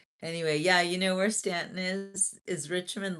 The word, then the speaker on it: Staunton: They called it Staunton, but it's spelled like Staunton.